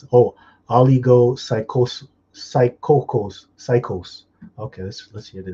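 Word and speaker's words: ὀλιγόψυχος: Oligosophocos. I can't pronounce it. Oh, oligopsychos.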